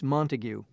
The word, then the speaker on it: Montague: you spell that please m-o-n-t-a-g-u-e could we look at some menus while we're waiting certainly here you are thank you okay so it's montague my pronunciation was wrong that's difficult that's a